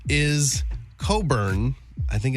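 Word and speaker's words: Cockburn: Yeah, cuz it's a last name, but they pronounce it Coburn.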